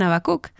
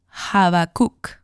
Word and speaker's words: Habacuc: siquiera cerca creo que una pronunciación correcta podría sonar algo así como habakuk no me pidas que